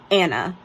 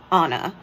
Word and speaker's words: Anna: first name is pronounced Anna not Anna Anna is one in Anna is two ends just think of the name Anne it's a-n-n-e there's we